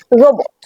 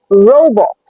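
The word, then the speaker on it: robot: ও বি ও টি আমরা প্রচলিতভাবে এটাকে বলি রোবট রোবট কিন্তু এটার আসল উচ্চারণটা হলো রোবট রো বট এখানে একটা জিনিস খেয়াল করুন এখানে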